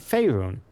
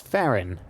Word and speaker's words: Faerun: I've been pronouncing it Faerun. You know, it's Faerun, apparently.